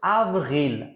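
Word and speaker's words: avril: চতুর্থ হচ্ছে আভরিল, আভরিল, তাহলে আ ভে, আভ, আর ই রি, এল হয়ে গেল আভরিল।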